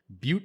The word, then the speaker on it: Butte: of this family now more than ever um but i remember the first time when i was